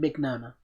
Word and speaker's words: Mignogna: He said Mignogna.